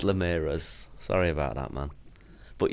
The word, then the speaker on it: Linares: Ramirez is an insult ooh sorry yeah it's Linares sorry about that man but yeah this is